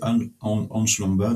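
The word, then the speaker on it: Ansh Lamba: Excuse-moi c'est Anch Lomba. Donc ça s'écrit A N SH espace L A M B A.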